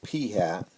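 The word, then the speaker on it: p̂: proportion um P hat and we pronounce that P hat that's the sample proportion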